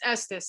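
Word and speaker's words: Estes: is referred to as the s's method we pronounce that wrong it's Estus I think they say Estus it's named for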